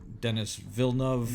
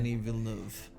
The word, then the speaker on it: Denis Villeneuve: No, you did butcher that. I don't know how to say it properly, so I'm not going to. Denis Villeneuve. Yeah. It sounded a little bit more. It sounded more French.